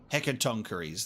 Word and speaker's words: Hecatoncheires: Hecatoncheires, that's how it's pronounced.